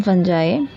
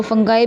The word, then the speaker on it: fungi: जो इसकी प्रोनाउंसिएशन है, कई लोग इसे फंगी भी बोलते हैं, फंगी, फंगाए और फंजाए। तो फंगाई भी हम बोल सकते हैं और फंजाई भी, तो हम इसे फंजाई या फंगाई बोलेंगे।